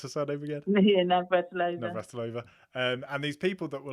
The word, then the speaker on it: Navratilova: I guess you had Annie Lennox on the screen, and Martina, how do you pronounce her surname again? Yeah, Navratilova.